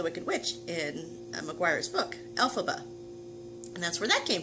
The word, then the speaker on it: Elphaba: efforts uh and then you start to pronounce the last name BOM ba so you kind of take those sounds and letters and put them together Elsa ba Elphaba so that's the name